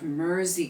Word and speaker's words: Mersey: than the other sections let's get the pronunciation of Mery correct because it rhymes with Jersey like the fabric the island the cow and the state get the chord chart